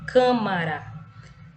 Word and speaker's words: câmara: Nós temos a palavra aí câmara. O K, câmara. Perceba que esse câmara, esse K é a sílaba tônica, tá?